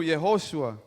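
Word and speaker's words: יהושע: que se pronuncia en hebreo Yehosha, That is Yehoshua, That is pronounced in Hebrew Yehoshua.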